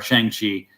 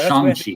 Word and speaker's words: Shang-Chi: was reading the comic and just saying it phonetically. Yeah, I was saying Shang-Chi too, or Shang-Chi. So it's Shang-Chi.